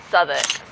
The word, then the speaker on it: Southwark: Spelt Southwark, but said Southwark.